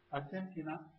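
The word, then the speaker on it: アルゼンチン: Argentina is pronounced as Argentin.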